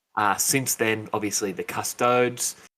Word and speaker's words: Custodes: since then obviously the custodes uh or custodies if you want to pronounce it incorrectly uh they they have